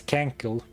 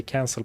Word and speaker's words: cancel: spoken that word before, I was sure it was cankle. So I was pronouncing it as cankle for years. Which maybe isn't that strange, considering, you know, my English teachers didn't teach me how to say cancel properly.